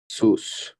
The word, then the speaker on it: sous: ওকে, দেন sur, সুখ, অন, sous, না সুস না, এর সাইলেন্ট না।